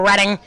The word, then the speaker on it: Reading: And Liam Hansen will finish out the starting 9 batters for Reading in right field.